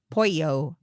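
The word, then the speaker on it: pollo: I I feel like, you know, say it's a family member, the waiter walks away, you could be like two L's in Spanish is pouyo.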